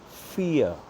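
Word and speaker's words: vier: V-I-E-R. Number four is called, pronounced fear, like fear of heights, fear of darkness. The same pronunciation. Fear.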